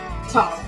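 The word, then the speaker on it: תו: Okay, so in the Ashkenazi pronunciation, which is used by like Orthodox and like older Jews, obviously I am neither of those. But this is pronounced with a TS, like a tzadi. So it's like like not s, but ts.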